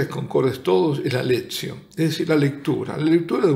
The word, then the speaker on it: lectio: Me preguntarán muchos qué es la Lectio Divina. Se escribe lectio, se pronuncia lectio.